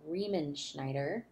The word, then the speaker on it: Riemenschneider: his name is tilman riemann schneider quite a last name riemann schneider's how you pronounce that he is a